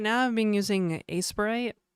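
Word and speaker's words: Aseprite: Uh right now I've been using Aspirite. Aspirate. Aspirite. I think it's pronounced aspirate because it's like aspiration and sprite and not and the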